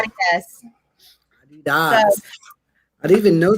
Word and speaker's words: Adidas: here we say Adidas, but everywhere else, like in Europe and Other countries, yeah. Adidas.